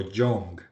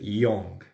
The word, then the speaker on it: young: Eh, y young, que es joven, muchas veces lo pronuncian como young, pero no, es young. Entonces, recuerden, cuando la palabra empieza con Y, no va a sonar como Y en español, sino como I.